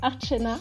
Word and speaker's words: Archana: Mon prénom, la façon dont il se prononce, donc c'est Archana et ça veut dire offrande.